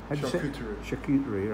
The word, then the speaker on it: charcuterie: Charcuterie. Right? And cheese. And tea. That's the charcuterie bit. And that's the charcuterie bit.